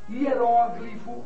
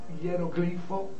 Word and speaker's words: hieróglifo: Nós temos Oceânia ou Oceania, Balcãs ou Balcãs, homília ou homilia, hieróglifo ou hieroglifo, projétil ou projetil, réptil ou reptil, né?